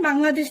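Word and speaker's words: 방글라데시: আপনি কি বলবেন, আমি বাংলাদেশ থেকে এসেছি, তাই না। তো বাংলাদেশ একটু আগে আমরা শিখেছি জনুন, জনুন মানে হচ্ছে আমি, বাংলাদেশ। তো বাংলাদেশকে আসলে ওরা কিন্তু কোরিয়ানরা বাংলাদেশ বলে উচ্চারণ করে না, ওরা উচ্চারণ করে বাংলা দেশি বলে।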